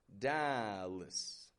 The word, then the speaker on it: Dallas: Getting it strong in the beginning, da. And then that A on the ending, totally reduced to just an this kind of sound. Dallas, Texas.